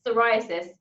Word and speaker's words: psoriasis: so difficult to say it's psoriasis it's a silent p i just take the p out and i can suddenly say it host of the